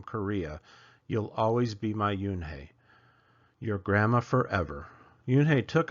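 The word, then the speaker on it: Unhei: he asked her with his eyes open wide Yun looked quickly at Mr Kim then turned to Joey she nodded slowly it's pronounced UI it means Grace Mr Kim added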